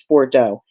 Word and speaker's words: Bordeaux: Bordeaux okay thank you I don't know why I didn't pronounce that right the first time but that is it's Bordeaux Patty daily edible panties